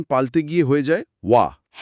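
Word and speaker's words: は: আন্টা হিসেবে কাজ করে তখন ওহ জাদুকরীভাবে এর উচ্চারণ পালতে গিয়ে হয়ে যায় ওয়াহ হ্যাঁ এটা অনেকের কাছেই শুরুতে বেশ অদ্ভুত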